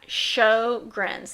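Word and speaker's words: Sjögren's: remember it's a it's a syndrome that's called Sjogren's syndrome now show grins this is another one that's very difficult to pronounce yes now Sjogren's syndrome is not pronounced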